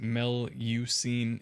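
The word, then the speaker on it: Melusine: Um, Melisine, pronounced Melucine, is uh also given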